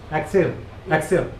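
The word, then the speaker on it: Axelle: that's so cool okay so it's Excel X how you pronounce aen aen aen I got to I got look at yeah a x e l l e so like X exil exil okay let's TR it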